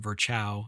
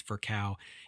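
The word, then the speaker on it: Virchow: you've read that name before you may have pronounced it verchow it's not verchow it's for cow and his name comes up a lot in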